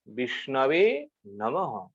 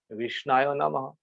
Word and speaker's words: विष्णवे नमः: विष्णवे नमः। ये शुद्ध है। पंडित जन इस प्रकार उच्चारण करते हैं, विष्णवे नमः। जो लोग जानते नहीं है, भगवान के पास जाकर के विष्णाय नमः गलत उच्चारण करते हैं।